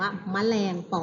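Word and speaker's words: แมลงปอ: คะ เรา อ่าน ว่า แมลง ปอ ปอ เรา อ่าน ออก เสียง แค่ ตื่น เสียง เห็น ไหม คะ อ่าน ออก เสียง เหมือน มี สระ อะ อยู่ ตรง คำ อ่าน นะ แต่ ใน รูป คำ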